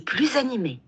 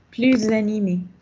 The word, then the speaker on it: plus animé: Ce quartier est plus animé. Quelle est l'utilisation ici, ou quelle est la prononciation?